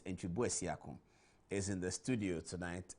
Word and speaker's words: Antwi Bosiako: Antwi Bosiako, as the British people say. They say Mr. Antwi Bosiako, but the real pronunciation is Antwi Bosiako, is in the studio tonight.